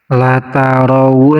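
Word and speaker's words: لَتَرَوُنَّ: Nah, di sini ada nun yang ditasydid, namanya huruf gunnah. Huruf gunnah itu nun dan mim yang bertasydid, jadi cara bacanya harus ditahan 2 harokat dari nunnya. La tarawunna, seperti itu.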